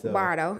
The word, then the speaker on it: Bordeaux: Okay, Bardo. I know they be coming at me for not saying it right. So you said it right, but you didn't say it Nashville.